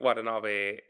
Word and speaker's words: Watanabe: Japan, I feel like there's a I think Watanabe. Wait, no. Is it Watanabe? Or am I like totally Yeah, getting his name wrong? yeah, Shinichiro Watanabe.